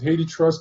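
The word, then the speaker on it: HathiTrust: use i use i hate the trust some people pronounce it haiti trust digital library and i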